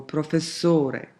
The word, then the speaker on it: professore: that falls on the second to the last syllable that's the characteristic sing-song quality of Italian: "ristorante"--second to the last, or "professore", again, second to the last.